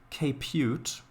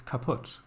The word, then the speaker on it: kaput: way in in English it's not capute it is kaput anyway I'm quite happy